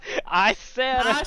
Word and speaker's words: Issarah: You should You're decide all on how to fucking pronounce mad. your continent. Issarah. Sarah. It's Issarah.